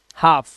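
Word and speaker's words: half: हाफ है ना? तो इसमें हाल तो नहीं बोलते। इसे हाफ बोलते हैं। तो यहां पर ये साइलेंट है।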